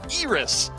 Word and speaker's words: Iris: here for the player formerly known as Elris, then Iris, but now it's supposed to be pronounced Iris.